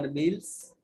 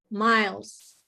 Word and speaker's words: Miles: Miles or Mills? Miles.